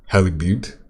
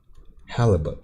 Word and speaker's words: halibut: uh also fish and chips how do you pronounce that name uh holly beaut halley but wait let me let me get that that google pronunciation pronunciation halibut okay halibut yeah the eye kind of confuses